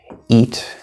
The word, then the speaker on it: eat: A very common example of this would be eat and it. Most English learners pronounce these words the same. They are not pronounced the same. This sound, which in this case is spelled E-A, it's just spelling. This is the E sound, E, which many languages have.